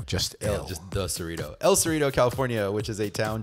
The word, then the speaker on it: El Cerrito: But now, finally, I am in Cerritos, California. Am I pronouncing that right? El Cerrito. It's not multiple. It's just one. No, just El. Just the Cerrito. El Cerrito, California, which is a town just north of Berkeley.